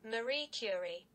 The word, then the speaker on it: Marie Curie: way I'm pronouncing that right I am not pronouncing that right hold on one second hold on hold on just a minute Marie cury tell a lie I said it right this